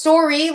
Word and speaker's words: Storyi: So it's Storyi, like a story, but he spells it Y-I, like his last name.